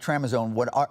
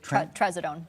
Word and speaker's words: Trazodone: And if you do give your pet something like Tremazone, is that how you say it? Trazodone.